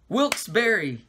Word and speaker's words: Wilkes-Barre: Wilkes-Barre. It's spelled strange.